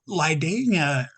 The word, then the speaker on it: Lydania: First, am I pronouncing that correctly? But also, Lydania.